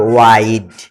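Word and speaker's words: wide: এ দেখো ডাব্লিউ আই ডি ই, তো যদি শেষে ইটা না থাকতো, ডাব্লিউ আই ডি উচ্চারণ হতো ইড, কিন্তু ই আসার কারণে আই হবে, ওয়াইড।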